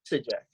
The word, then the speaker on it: Sygdziak: In case you're wondering how to pronounce that, did I pronounce it correctly? That was pretty good. Okay, how do you say it? Sygdziak. Sygdziak, okay.